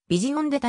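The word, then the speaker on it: Vision d'État: れているなお馬名の原発音は日本語のカカナ表記に当てはめた場合ビジオデタに近い 9 月 20 日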